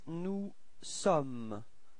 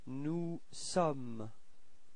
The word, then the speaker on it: nous sommes: Then for nous, you've got nous sommes, okay? Final S is not pronounced. Nous sommes.